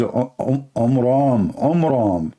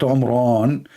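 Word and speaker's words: Amram: So it's the father of Moses, his name is Omram, not Omran. So he changed the last letter with letter N instead of M, which means it used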